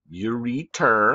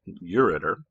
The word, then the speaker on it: ureter: things right now kidneys ureter i'm saying it wrong so you'll spell it right it's ureter you are e-t-e-r right make sure you spell that right or you're gonna get